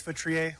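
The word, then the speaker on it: Futrier: Hi, my name is Futriier. last name is spelled F as in Frank, EU, T is in Tom, R I E R.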